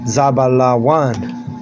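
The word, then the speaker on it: זבולון: And you say in Hebrew, you say zabalan. Zabalan. All right, that's how you say it in Hebrew.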